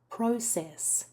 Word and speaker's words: process: The stress is almost always on the first syllable in this word for both the noun and the verb. Copy me. Process.